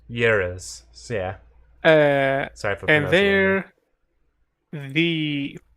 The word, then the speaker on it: gyros: Gyros. Uh they're called euros. Yuros.